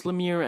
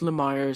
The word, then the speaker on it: Lemire: most prominent guest star I'm pretty sure it's Lemire and not Lamar since the interviewer is said so Lemire didn't have any complaints so yeah I guess that's how you pronounce his name and things worked out